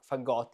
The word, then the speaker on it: Fagott: I'm talking about this fagot, I guess, with the accent on the ot.